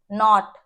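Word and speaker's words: knot: Common है यहाँ पे, के इज साइलेंट हियर, के का साउंड नहीं आ रहा, आप इसे कनी नहीं बोलेंगे, कनाइफ नहीं बोलेंगे, कनॉट नहीं बोलेंगे, या कनो नहीं बोलेंगे, ठीक है, क्या बोलेंगे, नी, नाइफ, नॉट एंड नो, ठीक है, तो के साइलेंट हो गया।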